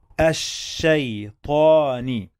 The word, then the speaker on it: الشيطان: الشيطاني الشيطاني. Okay, let's get something clear here. Sheen with shadda, it means we are gonna pronounce the letter 2 times, as we said before.